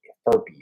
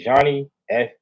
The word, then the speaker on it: Johnny Furphy: Furpy. How you say it? This is Johnny Furphy.